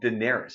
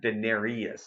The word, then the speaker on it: Daenerys: that it's you know her name is spelt Daenerys it's not Denarius and it bugs me